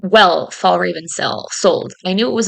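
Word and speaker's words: Fjällräven: And I didn't know how well Fall Raven sold.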